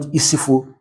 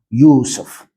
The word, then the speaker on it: Yusuf: They will tell you it's not Isifu, but you have to say like an Arab man, Yusuf.